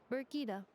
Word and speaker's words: Brigida: Also, please note, the device's name is Brigida. Okay, Brigida, not Beep Boopita.